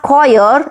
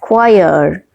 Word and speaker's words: choir: a choir of singles please take care it is not coir it has choir we can pronounce it as choir a choir of singers